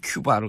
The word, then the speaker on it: 쿠바: 그분들이 다 쿠바를 갔다 오는 거예요. 그러니까 이제 그 요즘 정확하게 발음해 큐바를 갔다 오더라고요. 그 큐바죠. 예.